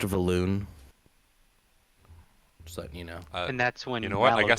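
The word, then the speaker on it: Vellynne: timing um so yeah Val Vine kind of LED you guys to the Inn uh she's you know you know there's a round of food that has been ordered um it's pronounced valoon just letting you know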